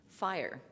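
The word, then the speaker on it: FHIR: emerging standard from hl7 health level seven called fire and that stands for fast healthcare interoperability resources and I'm imagining there's a few of you going yeah I know fire it's not pronounced for hire and that's basically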